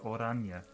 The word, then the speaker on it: Oranje: Oranje is pronounced Oranje.